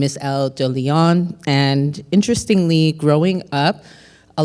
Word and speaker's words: de Lyon: my name is Elle de Lyon, and interestingly, growing up, a lot of people, including myself, could not say my last name, and they would mispronounce it on purpose, sometimes by mistake, as DeLion.